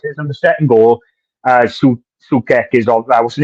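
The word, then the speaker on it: Souček: Sukek is on. What's his name? Shutet. How do you pronounce his name?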